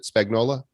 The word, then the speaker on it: Spagnola: Is that how you pronounce it? Spagnola? Yeah. It's like a lasagna.